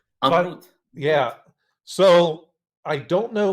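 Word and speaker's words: Amrut: the name? Amroot, A-M-R-U-T. Amroot.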